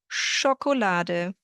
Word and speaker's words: Schokolade: German does not have words with SH when you have a sh sound, but an SCH. So whenever you have a sh sound in German, that is spelled as ch, like Schokolade, Schuh, Fisch, Tasche. So don't be confused when you see it. It sounds like the sh in English.